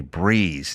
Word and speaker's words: Brez: Yeah, you want a breeze, not a hangover. Meet Breeze, spelled B R E Z, pronounced breeze.